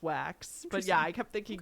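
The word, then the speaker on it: Waks: name is Ken wax it's spelled w-a-k-s though but it's pronounced wax but yeah I kept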